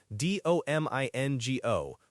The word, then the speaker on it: domingo: That's domingo, D-O-M-I-N-G-O, pronounced domingo.